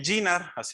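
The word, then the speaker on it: JINR: Pasando los años, después de Alice, salió la inquietud de colaborar también con el GINAR, así me dicen que se pronuncia, el GINAR.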